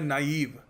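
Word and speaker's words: naive: इसको नाईव बोलते हैं। ठीक है? कई मैंने देखा अच्छे-अच्छे जो टीचर हैं वो भी क्या बोल देते हैं बताइए इसको प्रोनाउंस करने का सही तरीका है नाइव।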